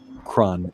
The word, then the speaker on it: Cron: do you say that again he'll be gone cron CR o n Indy cron okay I'm good